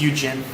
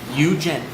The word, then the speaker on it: Yujin: It's Eugene. Eugene. Y-O-U-J-I-N. Eugene. Why not Eugene? Because it's Eugene. Why? Because that's how it's pronounced.